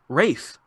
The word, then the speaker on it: Ralph: name properly cuz well to be fair it's spelled Ralph and he refuses to pronounce it that way oh just like all the Geoff's in the world you sons of it's RAL pH race oh yeah Ralph's got